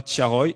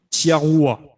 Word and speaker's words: Thiaroye: moment de prononcer tiaroy elle le prononce mal elle dit pas tiaroy elle dit tiarua donc ce qui pour